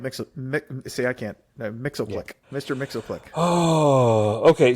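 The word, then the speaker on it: Mxyzptlk: yeah you nailed mix see I can't no Mixel click Mr Mixel click oh okay so look we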